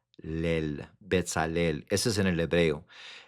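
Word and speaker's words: בצלאל: Betalel. Betalel. Betalel. Ese es en el hebreo. En el español se dice bezaliel. Besaliel. En en el hebreo se dice Betalel.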